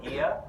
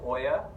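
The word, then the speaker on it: Oia: actually the town of iya which everybody calls Oya because it's oh I a but it's actually pronounced together it actually it's so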